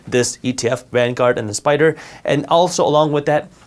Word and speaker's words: SPDR: an etf made by spyder spdr they're pronounced spider but these are two different